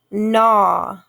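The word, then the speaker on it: gnaw: so w is silent nah g n a w but we don't hear the g so g n together make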